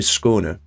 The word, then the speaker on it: Skåne: If you were wondering how to pronounce that, it is the A with a dot over it is actually pronounced like an O sound.